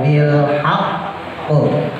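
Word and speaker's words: بالحق: Tapi qafnya itu qalqalah. Kalau dia hurufnya qalqalah, maka dikembalikan ke hukum asal dia. Ya, maka dibacanya wa tawassaw bil haqq. Wa tawassaw bil haqq. Ya. Jadi bukan hak.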